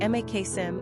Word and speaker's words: Maxim: Quick facts on Maxim Gender, boy Origin, Russian Number of syllables, 2 Ranking popularity, 729 Pronunciation, Maksim (English, Maksim, Russian) Simple meaning, greatest Characteristics of